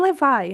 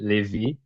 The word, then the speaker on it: Levi: Yeah, in the Brazilian accent could be Levi, but as a matter of curiosity, people with American accent have uh, a lot of difficult to say Levi as like with the strong syllable in the V.